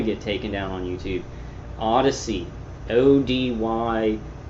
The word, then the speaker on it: Odysee: taken down on YouTube, Odyssey, ODY. It's spelled weird. It's like odd. What is it? ODYSEE. Odyssey.